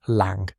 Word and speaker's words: Lang: Victor Lang, pronunciation lang, rhymes with song, and Eddie Malone, Lydia Harrove's musician B, were in cuffs.